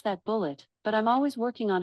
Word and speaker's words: Bulleit: According to an Alexa Answers contributor, bullet bourbon is pronounced bullet bourbon.